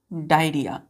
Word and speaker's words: diarrhoea: डायरिया। Clear है? यहां पर बच्चों डायरिया होगा। ओ जो होता है यहां पर ओ यह ओ साइलेंट हो जाता है। क्लियर है? तो ओ में साइलेंट है ये।